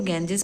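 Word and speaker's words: Ganges: गैंजेस यहाँ गंगा नदी को गैंजेस पढ़ा जाता है, इंग्लिश में प्रोनाउंसिएशन गैंजेस होता है।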